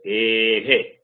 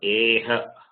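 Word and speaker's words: अः: Now A, and when it is preceded followed by Visarga, it is pronounced as A, he. That Visarga doesn't have separate sound. It takes a sound of the preceding vowel. That is A, he. It is not A, ha.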